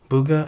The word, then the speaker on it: Bugha: by this guy named Bugha, I think is B-U-G-H-A. Bugha, I think is how you say his name.